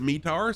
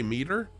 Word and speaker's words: METAR: for explaining what the me tar is some people some people pronounce it metar some people say meter um i i was trained it's metar so that's what i